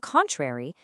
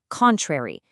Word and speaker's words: contrary: Remember, the pronunciation is contrary, strong on that first syllable.